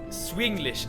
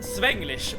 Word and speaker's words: Swinglish: The Swinglish, Seven. Yeah. The combination of Swedish and English. Someone would also call it Svenglish, but that is such a Swedish pronunciation for Swinglish.